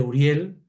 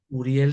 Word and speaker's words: Uriel: Argamán es el acrónimo de Argamán de Uriel, es decir, Ah, Uriel se pronuncia como U, pero se escribe, en hebreo se escribe empezando por Aleph, y la Aleph se traduce como A, como sonido A.